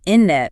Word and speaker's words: internet: The video's example was internet. Oh yeah, you said innet, dropping that first T.